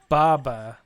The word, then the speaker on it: Baba: Baba.